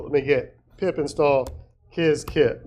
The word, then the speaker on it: Qiskit: Um, so let me get pip install kizkit. Notice kizkit is spelled qiskit.